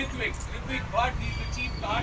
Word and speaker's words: Ritwik: If I look at this guy, it makes me feel hungry because his name rhymes with Bigwig. Ritwik Bhatt, he's the chief car tester.